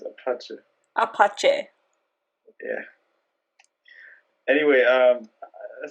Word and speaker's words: Apache: rap yes i do apoche wait how do you say it that's how he says it in his songs no he says apache apache yeah anyway um